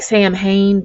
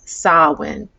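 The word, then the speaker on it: Samhain: saul sawin okay salwin it looks like sam hayne but if you look at the pronunciation it says sawin this festival was celebrated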